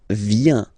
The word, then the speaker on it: viens: So the first form is je viens, je viens, okay? Remember this I, viens, viens, and then this nasal final S not pronounced.